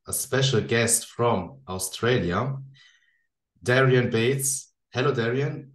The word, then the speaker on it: Darian: have a another name not many people pronounce Darian right so I just go with because I'm from Australia a lot of people just assume it's Darren so because Darren's like a typical Aussie name um but so I